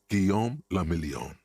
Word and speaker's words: Guillaume la Million: Guillaume la Million. Okay. If it doesn't rhyme, you're not pronouncing it right.